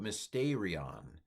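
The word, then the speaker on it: μυστήριον: Here's how I would pronounce it. This is Erasmian, sorry. En passe Sophia kai phronese gnorisas hemin to mysterion.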